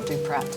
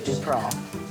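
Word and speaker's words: Du-Prât: Circumflex over the A so you don't pronounce the T so it's not Duprat, it is indeed Dupras.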